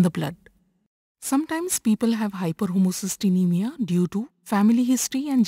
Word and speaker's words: hyperhomocysteinemia: When there is high levels of homocysteine in the blood, this condition is called as hyperhomocysteinemia. Pronounce it as hyperhomocysteinemia.